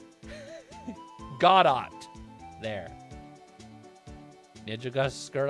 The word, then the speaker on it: Godot: It's not Godot? Godot.